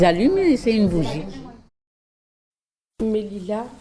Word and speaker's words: Melilla: Mélila, Mélilia, on dit. Lilia. On prononce 2 fois le i en fait. Ouais. Ça fait, pour eux ça fait mieux, mais ils le prononcent 2 fois en fait.